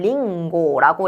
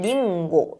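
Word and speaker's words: りんご: 자, 마지막으로 카행가행 그러니까 카키크했고 가기극개고 뒤에다가음 발음이 오게 되면 이응 또는 이응과 니은이 약간 합쳐진 것 같은 그런 받침의 역할을 하게 되는데요. 사과를 뭐라고 하냐면 링고라고 해요. 지금음 발음 뒤에 가기구계구에 고가 와 있어서 이거는 니음과 약간 이응이 합쳐진 링고 링고 요렇게 발음을 하게 되는 거고요.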